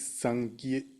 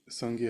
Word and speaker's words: Sangye: In Tibetan is Sangye. Sangye has two syllables.